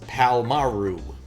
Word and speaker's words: Palmaro: Mr. Palmaro. Pronounced Palmaru. Okay.